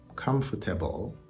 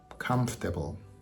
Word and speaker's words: comfortable: a little bit tricky I looked it up in the uh Cambridge Dictionary and it actually has four syllables but when people speak they only use three so again it's not comfort aable it's comfortable comfortable comfortable if this is